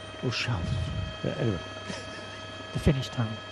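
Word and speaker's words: Ozalj: Ozal. The L and the J are almost not pronounced, apparently. Ozal.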